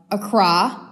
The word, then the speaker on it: Accra: in Ghana so you guys are gonna love Accra I was just taught how to say it